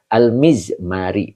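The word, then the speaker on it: المزمار: almizza almizmari begitu bacanya ini ada ketentuannya bikasril mimi. Jadi dibacanya mimnya harus kasr ya jadi fil mizmari bikis bikas bikisril ya. Oh bikisril bikasril ya. Yang benar adalah bikasril mimi ya dengan mengkasrkan mimnya. Jadi mimnya ini dikasr mizmari.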